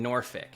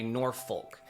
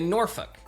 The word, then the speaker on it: Norfolk: A lot of people that are moving to the area like to say Norfolk. That's kind of how it spells, but that's incorrect.